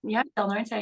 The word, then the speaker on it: Del Norte: Is that how you say it, Del Norte? Yeah, Del Norte Nighthawks.